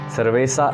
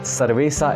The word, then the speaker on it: cerveza: cerveza bia de cerveza cerveza in spain cerveza in latin america so you will ask